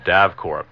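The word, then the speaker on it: DAVKORE: All of our archive shows are available from a tape duplication service called DAVCORE. That's spelled D-A-V as in Victor, K-O-R-E.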